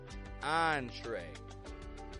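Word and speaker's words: entrée: And finally, words adapted from the French language, spelled with E-N. Entrepreneur, entree, encore, en route.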